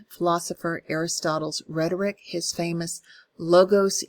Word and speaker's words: logos: Aristotle's rhetoric, his famous logos, ethos, and pathos. I choose the American pronunciation of that because I don't speak Greek. I think it would be logos, pathos, ethos. But tomato, tomato, right? Logos, pathos, and ethos for me.